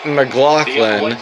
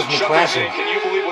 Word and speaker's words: McLaughlin: Chase McLaughlin. I wonder if he's related to the Stranger Things star Caleb McLaughlin. Yeah, that's actually how you say it. I thought it was McClassic.